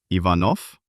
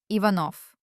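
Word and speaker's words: Иванов: So, using logic, if it gets devoiced, then instead of v at the end, it should be f. It turns out, Ivanov. Exactly. Ivanov.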